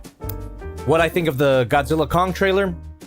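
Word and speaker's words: Godzilla x Kong: of uh Godzilla Kong trailer and it is pronounced Godzilla Kong I saw a clip of Adam winguard pronouncing the name of his own movie and he pronounces it as Godzilla Kong the new Empire the ex silent like Hunter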